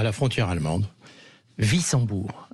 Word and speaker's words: Wissembourg: Wissembourg, c'est un W, on prononce Wissembourg.